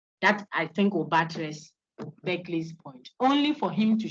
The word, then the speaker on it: Berkeley: The one we have mentioned all this while is Berkeley, even though it's spelled Berkeley. It's pronounced back to the dog, back, yes.